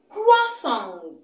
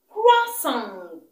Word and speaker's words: croissant: Croissant. Croissant. The letter T is silent.